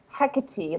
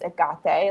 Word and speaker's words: Hecate: It's like how people say Hecate, like, that doesn't bother me when the Greek pronunciation is Agate, like, whatever, as long